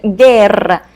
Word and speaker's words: guerra: Letter G can be also followed by a U and I, like in the word guitarra, or U and E, like in the word guerra.